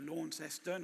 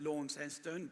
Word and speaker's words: Launceston: Graeme, having just returned from Tasmania, we went to Launceston. I don't know why they pronounce it Launceston, but rather as opposed to Launceston, but I particularly enjoyed your references to Tasmania.